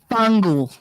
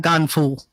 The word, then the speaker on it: Fangool: It's Fangool, not gone fool.